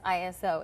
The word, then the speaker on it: ISO: night I was like the pronounce right pronunciation of this word is ISO and JD's like no